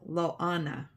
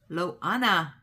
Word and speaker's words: Loana: Stuck on Diamonds is my handle, and my name is pronounced like Mohana, but with an L. Loana. Loana.